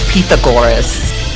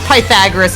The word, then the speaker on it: Pythagoras: His name is His name is Pithagorus. Pagorus. Pagorus like emphasis on the go like Pithagorus not Pythagoras at all I think also she was called Pagor.